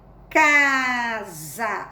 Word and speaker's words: casa: caça você vai ler casa apesar do s tem um som de z né você vai sempre